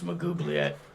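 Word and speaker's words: Maglubiyet: I am here to reclaim that which has been taken and restore my standing in the eyes of Magubliet or Maglubiet. Pronunciation. It's Magubliet.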